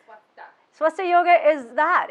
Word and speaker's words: Swastha: Swastha. Swastha. Swastha. The H is silent. Okay, that would be helpful if I said it right. Swastha.